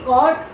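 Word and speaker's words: caught: Okay, अब इसके बाद है कैच, कैच की कॉट, कॉट पकड़ना होता है। इसका मतलब इसमें भी UGH ये तीनों लेटर साइलेंट हैं।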